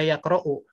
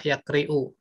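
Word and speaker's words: يَقْرَأُ: salah ya Kia kro harus tetap dibaca yaqra'u yang tidak bisa dibaca ya kriuk tol yaqra'u atau dibaca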